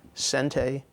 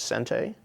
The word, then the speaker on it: sente: of concepts, and they are, in Japanese terms, sente and gote. Sente, we would spell phonetically in English, S-E-N-T-E, with a long mark over the E.